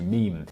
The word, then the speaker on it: meme: I abbreviate MIM to meme if it is any constellation it could be thought of as being related to memory or to the French word meem it should be pronounced to rhyme with cream and now for another